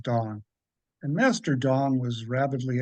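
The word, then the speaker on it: Tung: So there there's a an an acupuncturist named Master Dong, UNG, but pronounced Dong.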